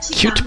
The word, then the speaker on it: Qt: covering it's called cute it's spelled qt but it's pronounced cute and when you search